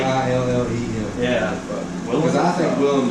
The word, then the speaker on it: Willem: It's Willem Dafoe. It's not William?